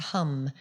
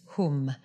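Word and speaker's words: hūṃ: So it's not hum, it's whom.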